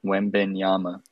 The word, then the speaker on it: Wembanyama: Yeah, it's Victor Wembanyama.